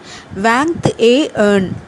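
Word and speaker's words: vingt et un: ETயை நம்ம ஏ மாதிரி ப்ரொனவுன்ஸ் பண்ணணும். அதுக்கப்புறம் UN ஏர்ன் அப்படின்னு சொல்லணும். அப்போது வேங்க்த் ஏ ஏர்ன், இதுதான் கரெக்ட் ப்ரொனவுன்சேஷன்.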